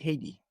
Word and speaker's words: Haiti: You pronounce it Haiti.